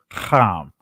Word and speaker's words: Ham: let's let's go into com as you see as I mentioned earlier it's pronounced calm let's go to Genesis chapter 10 verse 6 to 8. and the sons of calm we have Kush Miss